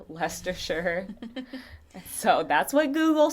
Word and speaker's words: Leicestershire: england and i looked up how to say lester sure so that's what google said so i'm sorry